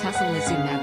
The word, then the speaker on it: tocilizumab: Toczulu, is it toczulumab? Something like that, Professor Whitty replies. Tocilizumab folks, the PM declares, after calling it Tocizzy again.